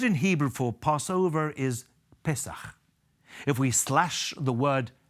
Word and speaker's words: Pesach: The word in Hebrew for Passover is Pesach. If we slash the word Pesach into two syllables, we find that the message that underpins Passover is so important, so crucial.